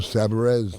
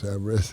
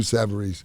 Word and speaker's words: Savarese: what is the pronunciation it depends where you are when i first moved down there was lou sabarez they were all saying my name was samris and then that's lou savarese in in italy you say